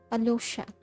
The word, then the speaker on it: Alyosha: Alyosha. ये लोग Y को pronounce नहीं करता. Alyosha.